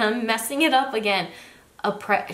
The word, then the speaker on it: après: Après. She said like the S was silent or something was silent.